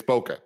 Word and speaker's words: bokeh: bake bake baka baka it's bokeh like uh camera aperture thingy oh that doesn't help me at all blur in the background the bokeh yeah so boca yes you're just saying it wrong i'm saying the way